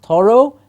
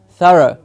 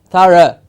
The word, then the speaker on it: thorough: understanding you as well so it's not thorough it's far and rough thorough thorough yes so if your mouth is moving and saying Oh at the end then it's incorrect you have to keep your lips apart and the jaw slightly loose to say ha ha Sara yes exactly